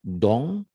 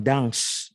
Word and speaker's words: dans: Nah jadi bacanya enggak dong ya, une ya, tulisannya kan une ya, bacanya ya, dong bukan dangs, enggak ya.